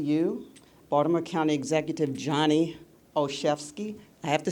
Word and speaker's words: Olszewski: The letter O, C-H-E-F like a chef, and ski like you're going skiing, okay?